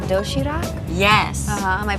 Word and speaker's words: Doshirak: It's called Doshirak? Yes. Am I pronouncing that right?